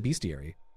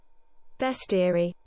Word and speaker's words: bestiary: through a bestiary uh I always pronounced it beastiary h uh many games have featured in-game bestiaries but rarely is it important to actually read through them in much detail before we continue bestiary thought so best yeah